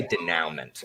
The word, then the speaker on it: denouement: i'm getting more industries i say denouement and then someone's always like it's daniel mall danny what about day new dad where's the new dad no the picture it's french where french doesn't pronounce consonants you should ignore all all consonants are silent except for the first yes they're just look at the word take out all the consonants except the first one you use the